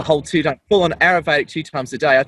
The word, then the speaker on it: Ayurvedic: is i've gone down the aerovedic eating um i know i'm pronouncing that how do you say that word in indian is it arabic uh close it's it's ayurvedic but it's very hard